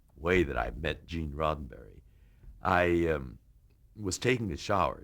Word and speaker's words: Roddenberry: i'm george takei here to meet uh mr rosenberry and you know you're nervous enough as you